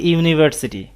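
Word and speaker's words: university: There is এ ইউনিভার্সিটি, প্রথমে ইউ আছে, এটা একটা ভাওয়েল কিন্তু উচ্চারণ ইউ, এই কারণে এ বসানো হয়েছে।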